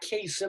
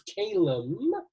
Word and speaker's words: Calem: He's not Kasem, he's Calem, which rhymes with Salem, right?